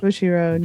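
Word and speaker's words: Bushiroad: Bushy Road.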